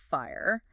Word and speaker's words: FHIR: Or FHIR, which we pronounce fire.